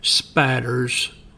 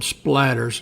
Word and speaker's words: spatters: The writer observed blood that should be spatters. As you can see here, it's spelled splatters, and that's not correct. It's the correct pronunciation and spelling is spatters.